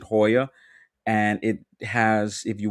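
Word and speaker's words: JOYÀ: Um they have a cirtole in like down there called Hoya or Joya but they pronounce it Hoya and it has if you want to you can do like the dinner and the show experience.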